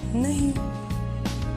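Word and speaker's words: know: आगे बढ़ते हैं एन ओ नो इसका मतलब नहीं, के एन ओ डब्लू नो because यहाँ के साइलेंट है, एक नो का अर्थ है नहीं और दूसरे नो का अर्थ है जानना।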